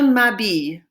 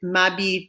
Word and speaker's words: m'habille: And we've used an apostrophe because habille starts with a vowel sound, which is why we did m'habille, t'habille, s'habille, right? Because there's an H at the beginning and that is a vowel sound because the H is silent.